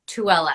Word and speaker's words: Tooele: a healing center in tooele is that how i say it right uh-huh tuala utah i've been to it